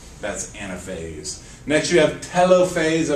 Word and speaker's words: telophase: Next, you have telophase. I've also heard it pronounced telophase, but only the Brits do that, so don't be silly.